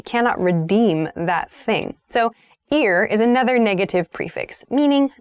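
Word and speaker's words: ir-: The next prefix is ear. So the pronunciation is ear, even though it's I-R.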